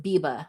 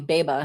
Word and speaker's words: Biba: Oh, Biba says, FYI, my name is pronounced Biba, like Reba McEntire. Okay, Biba Brooks. I was calling you Beba, huh?